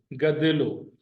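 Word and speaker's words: گدلو: सी गद्दिलो, GADLO, GADLO, गद्दिलो। गाफ पर जबर, दाल पर जेर, लाम और वाव आपस में जबर के प्रोनाउंसिएशन के साथ मिले हुए हैं।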